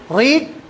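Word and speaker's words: read: Okay, यहां पे देखिए एक बात बोलने की है कि तीनों की स्पेलिंग सेम है, एग्जैक्टली सेम है, प्रोनाउंसिएशन चेंज है तीनों का। इसको बोलते हैं लॉन्ग वावेल से, रीड। ये शॉर्ट क्विक वावेल है, रेड।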